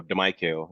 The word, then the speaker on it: Damiquel: So Damiquel is the correct pronunciation, but it's all right.